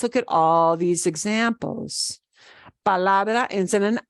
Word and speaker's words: palabra: And the second to last is the la, palabra. The way we say that obeys the rule, palabra.